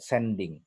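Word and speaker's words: zending: Pada zaman Belanda itu disebut sending, tulisannya pakai Z tapi bacanya pakai S, ya.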